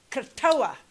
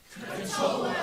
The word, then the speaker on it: Krotoa: Say after me, Krotoa. Krotoa. Krotoa.